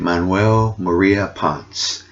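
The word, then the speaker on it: Manuel María Ponce: maria ponce okay that's how you say it manuel maria ponce and and the reason i'm thinking that this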